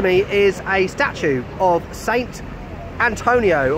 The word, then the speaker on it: Sant'Antonio: And right next to me is a statue of Saint Antonio, or Sant'Antonio. That's how you say it in Italian, apparently.